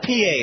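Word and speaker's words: Pie: The Felix P.A., it's spelled P-I-E.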